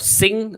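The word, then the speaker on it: Singha: You would have heard of Sing, or with the tiger, or some pronounce it as Singa, right? But it's Sing Beer.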